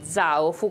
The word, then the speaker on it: Zaofu: Zaofu, con l'accento sulla A. Zaofu.